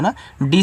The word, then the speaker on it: need: यहाँ पे डी से दा नहीं बनाना है, डी से आपका ड़ा बनाना है, ठीक है। इंग्लिश में आपका ड़ा बनेगा, दा नहीं।